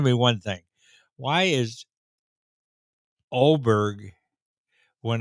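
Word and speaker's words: Åberg: know on top of the a in in oberg and it's uh that's how it's pronounced now you know the English language and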